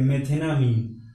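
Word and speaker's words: methanamine: तो meth plus एमीन क्या हो जाएगा, मेथेनामीन, यहाँ से ई साइलेंट हो जाएगा, अमीन सीधे हो जाएगा, तो इसका पूरा जो नेम है वो हो जाएगा मेथेनामीन, ठीक है।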